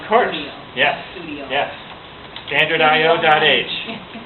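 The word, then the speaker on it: stdio.h: Standardio.h. That's what it is. That's how you say it in your head anyway, even though it's not spelled that way.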